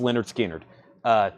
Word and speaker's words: Lynyrd Skynyrd: That's pronounced Lynyrd Skynyrd.